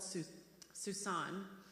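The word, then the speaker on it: Susani: in rural Romania called Susan. It's Susan. It has an I on the end, but it's a silent I, so you've been saying it wrong, probably.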